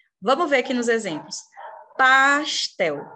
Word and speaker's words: pastel: Pastel. Qual que é a sílaba tônica de pastel? Tel.